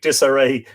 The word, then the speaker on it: Desiree: My name sounds like disarray, which my life is always in, says Desiree.